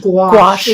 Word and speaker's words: gouache: this go I don't even know how to pronounce this gouache gouache it is gouache is it gouache is basically